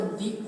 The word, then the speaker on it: the: एक definite article जिसको दी कहते हैं, ठीक है।